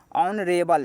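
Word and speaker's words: honourable: इसका उच्चारण हो के समान नहीं है। इसका उच्चारण अ के समान है।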